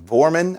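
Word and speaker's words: Woerman: this vormin character w-o-e-r-m-a-n vormin i think is how you pronounce it and it's just such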